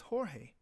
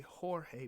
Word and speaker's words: Jorge: you have to say Jorge because the G has to be pronounced like a h the H so it